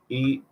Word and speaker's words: ensemble: Ensemble, Ensemble.